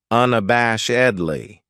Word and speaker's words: unabashedly: then we have unabashedly this adverb has five syllables and the stress is on the third syllable unab bash edley that second syllable has that schwas sound unabashedly what it means is